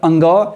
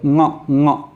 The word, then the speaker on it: ङ: तो इसको आज के बाद अंग या व या अणों के बदले आप ङ उच्चारण करेंगे, ङ।